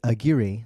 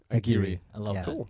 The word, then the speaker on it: Aguirre: your last name please well my grandfather pronounced it Aguirre so Aguirre thank you so much